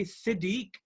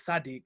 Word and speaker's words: Sadiq: it if you say if you say siddiq which is not my name my name is sadiq but if you say